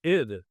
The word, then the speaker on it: id Software: Uh, it's ID. ID as in the ego and the super ego and the id. Freud in psychology. So it's id like the word did.